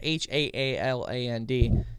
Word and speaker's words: Haaland: They asked Interior Secretary Deb Haaland, I think that's how you say it, it's Haaland, to act quickly on emergency petition they filed in May to relist the wolf as endangered or threatened.